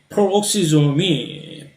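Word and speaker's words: peroxisome: 남이 치워주는 경우로 어이 퍼옥시좀이 페록시좀이라고 영어로 제대로 된 발음이고 한국말은 퍼옥시좀 그냥로 주로 많이 발람을 합니다 여기에 나와 있는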